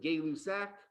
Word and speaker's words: Gay-Lussac: Gay-Lussac's law, named after Joseph Gay-Lussac. If you've got really good French, I think the actual French pronunciation is something like Gay-Lussac.